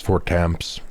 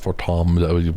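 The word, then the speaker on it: Fortemps: And it's House Fortamps, not Fortom, whatever you said.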